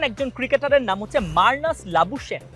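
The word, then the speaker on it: Labuschagne: প্রথম question Australian একজন ক্রিকেটারের নাম হচ্ছে মার্নাস লাবুসেন কি কি মার্নাস লাবুসেন লাবুসেন আপনার বলতে হবে লাবুসেন এই নামের বানানটা লাবুসেন লাবুসেন লেবুন না না লেবুর লাবু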